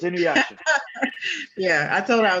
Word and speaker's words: Inuyasha: Wait, spell that again. INUYSHA. It's Inuyasha.